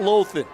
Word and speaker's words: Loughlin: along with Kyle Loughlin check that laufen I always do that think about Marty Lausanne